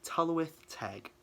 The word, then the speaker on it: Tylwyth Teg: So I thought I would kind of try and help with the pronunciation. Tylwyth Teg.